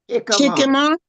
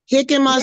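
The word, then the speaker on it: jicama: Hikima. Hikima. So it's spelled J I C A M A. But because it's Hispanic or Spanish, the J is pronounced like a H.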